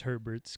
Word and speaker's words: Herbert: So, because Herbert's going to be number 1 overall pick, and guys whose name rhymes with Sherbert.